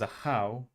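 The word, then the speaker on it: Ajaw: Ajao is a how.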